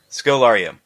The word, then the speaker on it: Scodelario: And I do think it helps that the performers in here, Barry Pepper and Kylie, how you pronounce her last name? Scodelario.